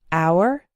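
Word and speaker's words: hour: The H is silent in the words our, honor, and air.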